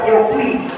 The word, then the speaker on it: Jokowi: Tulisannya Jokowi dibaca Yokwi. Tapi kalau orang Brita, Madiun, Jawa Timur membacanya, dia tidak bilang Yokuwi tapi o Yoki.